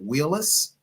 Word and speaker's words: Wheelis: of your last name is it Wheelis you said it correctly that is correct all right all right